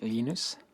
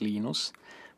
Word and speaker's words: Linus: came along when astre linus what's exactly your preferred pronunciation when i speak swedish it's heinous when speak Finnish it's Lino's when I speak English its Linus and I really don't